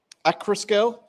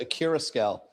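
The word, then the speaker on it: Accurascale: So, anybody see the announcement by uh Acroscale? Because I've noticed everyone calls it a cur scale, but whenever you talk to, well, I was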